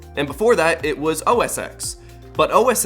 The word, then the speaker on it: OS X: And I'm not even gonna get into the fact that OS X is pronounced OS X, but the iPhone X is pronounced the iPhone 10, even though they're both